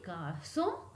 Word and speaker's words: garçons: So you can see les garçons, les filles, but I am not pronouncing s, so we don't have to pronounce s.